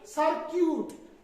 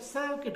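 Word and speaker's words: circuit: तो यहाँ पे भी हम यू को काट देंगे, यू की आवाज नहीं निकालेंगे, मतलब सर्किट, ना कि सर्क्यूट। सर्क्यूट नहीं होता है, सर्किट होता है।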